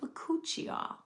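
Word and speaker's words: Bakuchiol: And a lot of people have a hard time pronouncing this name. It's it's called Buchial.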